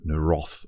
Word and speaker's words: Naroth: And indeed, I did get confirmation of the pronunciation of the name. I like saying that. It's Naroth audio.